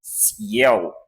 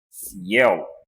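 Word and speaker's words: съел: Aqui eu tenho a vogal composta IE, e aqui eu tenho então a letra L, e nós pronunciamos ciel, ciel, que significa comer no passado, né?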